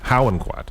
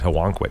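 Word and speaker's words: Howonquet: say it well it's how do the natives say it they say how inquire how and what yeah okay how in quad i always said helwan quick yeah that's not i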